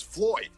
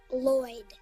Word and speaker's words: Lloyd: No, my boss's name is Floyd. No. It's pronounced Lloyd.